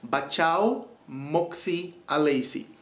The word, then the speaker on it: Batjaw Moksie Alesie: so traditional to my country and it's called Bacha Mesi now let me pronounce that a little slower so you can hear the correct pronunciation Bacha Moy alysi now I'm going to give you a little